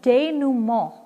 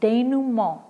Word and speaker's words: dénouement: Number 3 is also French, and it's pronounced dénouement. It's a French pronunciation, dénouement.